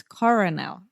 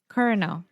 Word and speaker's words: colonel: it's so hard because colonel here is with l and i'm reading so it's coronel right kernel cardinal centers okay so